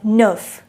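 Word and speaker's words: neuf: pronounced as with with with with nine is pronounced as nerf nerf ten is pronounced as ds ten is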